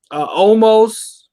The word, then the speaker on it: Omos: Omos.